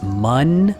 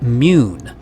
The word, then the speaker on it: Mun: regular carbon system is mun if you were to spell that like this you would actually call that mune but since it isn't spelled like that we can call it mun hope that clears it